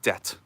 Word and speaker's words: debt: Like a word like debt.